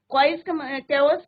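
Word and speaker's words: chaos: कैओस का मतलब होता है कंप्लीट डिसऑर्डर, इसका प्रोनाउंसिएशन क्या होता है बच्चों, केओस, केओस, राइट। तो सी का नहीं है, केओस, इसका मतलब होता है कंप्लीट डिसऑर्डर।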